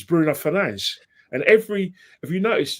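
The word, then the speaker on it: Bruno Fernandes: Like for instance, everyone sort of pushes back and says, "Why do you always say Bruno Fernanch?" Because Bruno, the guy himself pronounced his name is Bruno Fernanch.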